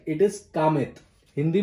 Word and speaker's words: Kamet: से देख सकेंगे, many of the foreigners would pronounce it as Kamet. It is not Kamet, it is Kamet.